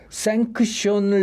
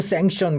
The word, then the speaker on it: 생크션: 네, 보통 생션 그렇게 발음하는데. 예, 저도 원래 뭐 생션 랩이라고 이름을 지으려고 했는데요. 네. 그 네이버에 생션 랩을 치니까 자꾸 생선이 나오는 겁니다. 한국어로 하니까 생선이 자꾸 나와가지고 그러면 이걸 어떻게 하지 하다가 생크션이라고 치니까 없더라고요.